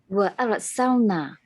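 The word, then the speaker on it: أرسلنا: We call it tafkhim or tarqiq. This full mouth because in Yes. front because before ra is a vowel sound. Fatha.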